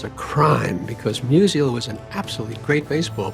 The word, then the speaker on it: Musial: Musial. That's the way he pronounced Stan Musial's name.